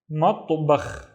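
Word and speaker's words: مطبخ: Matto, I have the ta, but with no vowels. Matto, bakh, matbakh, matbakh, and matbakh is a kitchen.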